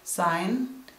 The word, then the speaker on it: sign: that aren't phonetic like in the word sign where you don't pronounce the letter G that could give you